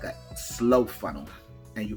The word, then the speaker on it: SLO: now we call this something it's like a slow funnel and you pronounce it s-l-o and that's an acronym for